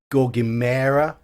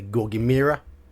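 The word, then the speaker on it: gorgimera: nothing too good yeah he's putting a gogimera whereas we would we would say goggy mirror go get Mountain yeah go get me it's like Chimera go get mirror but I've heard British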